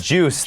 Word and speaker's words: juice: There We Go ฮะ ไม่ ได้ จุย ฮะ แล้ว ก็ ไม่ ได้ ู ไ นะ ฮะ อ่า อัน นี้ ju นะ ฮะ ไม่ มี อุ้ย นะ ฮะ เป็น ju นะ ฮะ แต่ ว่า ถ้า